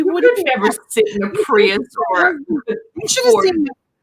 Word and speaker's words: Prius: Primus, Toyota, how do you say? Prius. Prius, thank you.